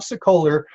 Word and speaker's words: Sokoler: success calls this month's top agent is bob sicoler with re max in louisville kentucky welcome to